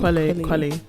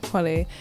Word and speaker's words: Kweli: Kweli. Yeah, Kweli.